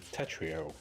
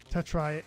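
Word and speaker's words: TETR.IO: People keep trying to get me to play Tetrio. Tetra. Tetrio. Yeah. Is that what it's called? Okay. Oh, either way. I You can pronounce it either way.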